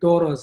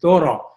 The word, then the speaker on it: Thoreau: it is hindi david thoros sorry it rhymes with beerus or b-u-r-e-i-u b-ro it is hindi david thoreau not turio immediately all the students